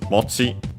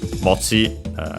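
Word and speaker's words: 持ち: And then we have this mochi. Would be accent on the last syllable, which makes sense because it comes from a verb, an accented one, and so it follows the rules.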